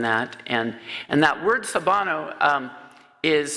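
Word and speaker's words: Sawubona: with me on that and and that word sabano um is spelled s-a-w-u-b-o-n-a but really if you click in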